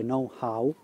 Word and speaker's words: know-how: lo pronuncia molto all'italiana, si dovrebbe dire know-how, con l'H prima del how, non solo how.